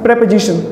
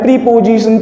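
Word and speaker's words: preposition: हम सुनते आते हैं प्रीपोजिशन प्रीपोजिशन, लेकिन प्रीपोजिशन नहीं होते हैं ये, इनको कहते हैं प्रपोजिशन। सही प्रोनाउंसिएशन होता है उस वर्ड का प्रपोजिशन, और ये इंग्लिश के प्रपोजिशन है।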